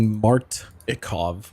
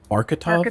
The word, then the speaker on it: Martikov: It's apparently Martikov. Martikov. What have I been saying? Marketov?